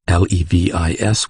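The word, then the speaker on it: Levis: named mattha noe levy l-e-v-i-s which was pronounced levi cambis c a m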